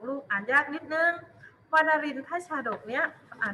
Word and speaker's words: วานรินทชาดก: รูป ดู เลย บอก ว่า วานรินทชาดก อ่าน ว่า ว่า นรินทร์ พระ ชาดก ลูก อ่าน ยาก นิด นึง ว่า นรินทร์ พระ ชาดก เนี้ย อ่า ดู รูป ลูก ข้อ หนึ่ง ตาม